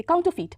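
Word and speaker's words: counterfeit: फीट काउंट ू फीट देखिए यहां पे जो आर होगा ना वो हल्का सा हल्का नहीं मतलब हल्का सा बोलना होगा साइलेंट है एक तरह से काउंटर फीट ठीक है सी ओ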